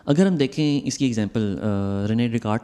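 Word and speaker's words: René Descartes: तो ये हमारा एक स्टार है, रेने डेकार्ट। लास्ट वीडियो में मैं प्रोनाउंसिएशन पे ज़्यादा गौर नहीं कर रहा था,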